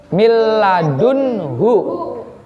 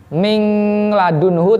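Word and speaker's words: مِن لَّدُنْهُ: Milladunhu. Jadi tidak boleh membacanya mingladunhu, tidak boleh ya. Karena ada nun mati di situ, di depannya bertemu dengan lam, maka bacanya tidak jangan disender, kepalanya jangan disender.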